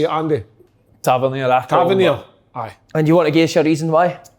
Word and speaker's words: Tavernier: Tavernier.